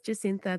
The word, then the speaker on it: Jacintha: Did I say it right, or is it Jacintha? I'm terrible with names. No, it's Jacintha.